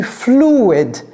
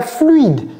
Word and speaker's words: fluid: Fluid, c'est pas fluide, c'est fluid.